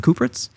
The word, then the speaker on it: Kupritz: Kupritz? Yeah. Kupritz.